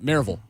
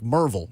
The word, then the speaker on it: Maryville: Ten for Maryville it's nope Maryville I hate it really there it's more like Marvel Marvel we didn't we